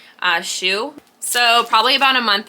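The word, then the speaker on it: Hsu: And I want to say it's Shoe. I used to work with somebody that had that last name, and I think that's how we pronounced it, Shoe.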